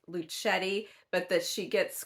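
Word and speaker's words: Luchette: that she herself said that her name is pronounced luchetti but that she gets called Lucia and lucette and all these other things and she is not offended but it's actually luchetti so I'm gonna try to uh be uh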